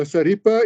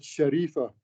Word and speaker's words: Sharifa: Now, Saripa is an Indonesian pronunciation of the word Sharifa.